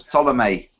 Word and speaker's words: Ptolemy: So that was Ptolemy, spelt with a P for some reason at the start.